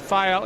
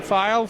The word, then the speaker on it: Phyle: we might add that file is spelled PHY al because that might throw a few people off for sure all right who